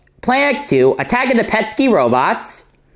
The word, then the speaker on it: Petscii: Planet X2, Attack of the Petsky Robots. Yes, that's how it's pronounced. Petsky, not Pesky.